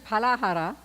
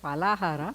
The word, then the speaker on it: Phalahara: Ekadashi Phalahara, consumption of fruit for Ekadashi, would become Ekadashi Palahara, means consumption of meat. Pala means meat for Ekadashi.